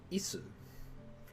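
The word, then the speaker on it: 椅子: Isu. Chair? Isu's chair? 椅子 It's like the word is in English, but it's not. It's isu. So isu.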